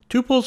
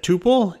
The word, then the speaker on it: tuple: some people pronounce it tuple and some people pronounce it tuple either way is fine I've even heard people